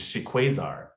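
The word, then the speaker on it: shikuwasa: got this, which is shiquazar. And it's spelled S-H-E quasar, like the word quasar.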